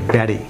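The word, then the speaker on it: Betty: এটি আমেরিকান উচ্চারণ হবে ব্যারি। কেন বেরি হচ্ছে? আমরা জানি যে আমেরিকান উচ্চারণ হচ্ছে ইংরেজি কোনো শব্দে যদি দুটি ভাওয়ালের মাঝখানে টি থাকে সেটি হচ্ছে ডি, ফ্ল্যাপ টি উচ্চারিত হয় সেটিকে ডি এর মতো, ঠিক ব্যারি।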